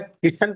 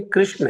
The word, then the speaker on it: कृष्ण: किशन नहीं, कृष्ण है। वो आपका दोष नहीं है, वो आपके प्रोनाउंसिएशन का अभ्यास का दोष है ना। राजेश को रजेश, राकेश को रकेश, ऐसे ही कृष्ण को किशन।